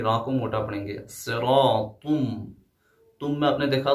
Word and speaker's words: صراط: اس کے بعد هذا صراط، آپ نے دیکھا صراط را کے اوپر الف آیا ہے تو یہاں پہ تفخیم والا قاعدہ لاگو ہوگا، یعنی را کو موٹا پڑھیں گے. صراطم، تم میں آپ نے